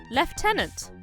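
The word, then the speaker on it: lieutenant: Oh my god, the chief has offered him the job left tenant. I'm British, so it's pronounced differently. Thank you.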